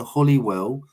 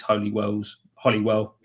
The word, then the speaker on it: Holywell: It's come from Claire Hughes, and she asked, why is Holyhead and Holywell pronounced as Holly, if you don't mind me asking?